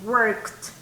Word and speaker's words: worked: Yes, worked. Worked. Worked. Siempre igual, termina en T, ¿verdad? El sonido, worked.